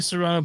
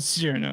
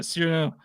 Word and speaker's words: Cyrano: But anyway, yeah, anyway, I pronounced it like Serrano pepper for a minute, like Serrano, but Cyrano, yeah, Cyrano.